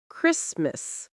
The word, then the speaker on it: Christmas: You don't pronounce the T at all. It disappears. Common examples: listen to listen. often to often. Castle to castle. Whistle to whistle. Fasten to fasten. Christmas to Christmas.